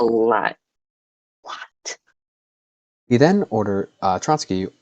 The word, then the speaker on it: Trotsky: yes, Trotsky.